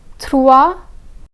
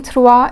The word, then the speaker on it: trois: For example, trois, bus, trois, bus. The letter S in trois is silent, but the S in bus is pronounced.